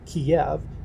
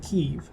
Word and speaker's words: Kyiv: While the Russians pronounce it Kiev, Ukrainians pronounce it Kyiv.